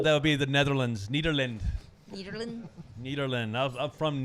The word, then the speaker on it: Nederland: from nederland it's actually if you talk to someone from nederland from the netherlands you go are you from nederland they so much appreciate the fact that you pronounce it with a d because they they don't pronounce it with the th it's a d needle makes you wonder